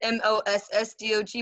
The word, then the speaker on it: moss dog: H-D-O-G, but it's pronounced, it's M-O-S-S-D-O-G, but it's pronounced M-O-T-H-D-O-G. So, moss dog.